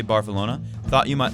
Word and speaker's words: Barcelona: We in Barcelona pronounce it more like Barcelona.